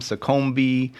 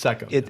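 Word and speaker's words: Seccombe: I have heard Seckham mispronounced so many different ways. Seckham, Secombe. You've probably all heard it. Seckham. It's Seckham.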